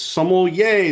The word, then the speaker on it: sommelier: The way that I always say it is if you ever forget how to pronounce sommelier, it's sommelier, there's wine here.